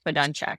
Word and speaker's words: Fedunchak: It's just Fedunchak. It's Russian. Fedunchak.